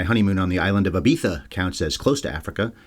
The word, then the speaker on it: Ibiza: I'm a guy who's never been anywhere near Africa, unless enjoying my honeymoon on the island of Ibiza counts as close to Africa. It's pronounced Ibiza, not Ibiza.